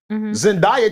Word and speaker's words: Zendaya: Zendaya towers over Tom Holland. Wait, what's her name? Oh, I'm bugging. That's how you say it? Zendaya?